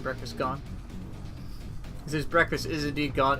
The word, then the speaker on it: Breakfastgun: That's the proper pronunciation, Breakfastgun.